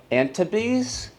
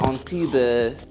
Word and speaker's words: Antibes: You could say the S is definitely silent.